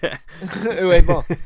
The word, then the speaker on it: Uwe Boll: I've been pronouncing it "ew," like ew, Ball. Uwe Boll.